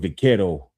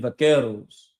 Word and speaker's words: vaquero: The traditional cowboy look arose from Mexican vaqueros, and the word buckaroo came about as a mispronunciation of the word vaquero.